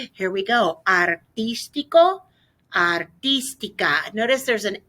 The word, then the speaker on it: artística: Okay, and then we're gonna need to make sure we put that accent on the I in artística, artístico.